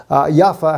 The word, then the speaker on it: Jaffa: a little place called Jaffa Yaffa, how you say it in the Hebrew language there.